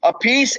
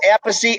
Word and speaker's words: Appice: amazing thing complete brothers three pronunciations in your name a peace apache and a peachy oh man why because